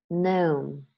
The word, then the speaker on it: gnome: I used American pronunciation of these words, but in both languages, the G is mute.